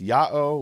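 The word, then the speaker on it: Ιαω: The letter is pronounced Ya'o, which presumably is equivalent of the Hebrew Yeho, which is the prefix form.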